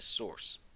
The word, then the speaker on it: src: this case the attribute is SRC which we pronounced a source the source attribute is where you put the